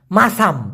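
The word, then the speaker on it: masam: কামড় দিলে বিশাল বিষ মাসাম এটা কিন্তু মাচাম না একটা হচ্ছে এম এ সি এ এম উচ্চারণটা মাচাম এই মাচাম মানে হলো রকম অথবা মত আর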